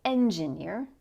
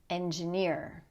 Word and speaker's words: engineer: We don't say engineer. We don't say engineer. We say engineer.